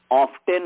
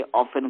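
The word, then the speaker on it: often: कि खाते खाते खाते यदि ऑफ्टेन है तो उसको टी साइलेंट करके ऑफेन कर दिया, कहीं पर और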